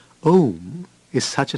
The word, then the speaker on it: Om: The first letter, A, is the root sound, the key, pronounced without touching any part of the tongue or palate. M represents the last sound in the series being produced by the closed lips, and the U rolls from the very root to the